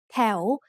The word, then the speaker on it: แถว: The final consonant วอแหวน makes a sound like the letter O at the end of a syllable. And this blends with the vowel to make the sound L. แถว is said with a rising tone because it has a high-class consonant and a live syllable ending.